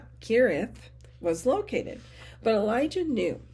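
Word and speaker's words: Cherith: for sure where this narrow strain pronounced kirith was located but Elijah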